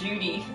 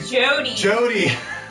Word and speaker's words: Jody: Why does everyone pronounce my PSN Judy? Oh, sorry. Jody.